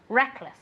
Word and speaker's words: reckless: very good Reckless Reckless remember that the accent goes on the first syllable Reckless okay let's see if